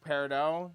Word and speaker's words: peridot: It's pronounced peridot, it can be peridot, it can be whatever. Steven Universe can suck my fucking nuts, because they all say, peridot, peridot, peridot.